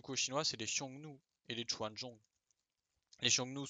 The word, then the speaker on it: Xiongnu: Et du coup, juste ça se prononce Xiongnu.